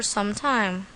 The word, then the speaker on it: some time: with her Uncle for some time tip try to put a pause between the words some and time we don't pronounce it like sometimes sometime sometimes see the difference here's a table to